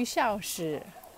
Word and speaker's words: Shaoshi: Xu Shaoshi. X-U is pronounced Xu, but I think second tone.